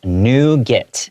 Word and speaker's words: nougat: Mmm, so that's pronounced "nougat".